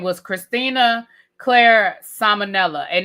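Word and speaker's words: Ciminella: was born her birth name was Christina Claire Salmonella and it's spelled C I M I N E L L A. So it's pronounced Salmonella but it's not spelled the name as it's not spelled the same as Salmonella.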